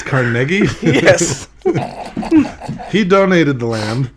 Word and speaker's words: Carnegie: Well, it's pronounced Carnegie. A lot of people call it Carnegie, but it's pronounced Carnegie.